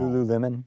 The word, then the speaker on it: Lululemon: examples of US companies, US brands, I can't pronounce it, Lululemon. Lululemon.